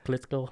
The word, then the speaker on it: Klitschko: Klitschko, yeah.